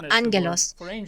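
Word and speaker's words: ἄγγελος: En inglés se escribe eso como A-G-G-E-L-O-S, pero lo pronuncias como ángelos.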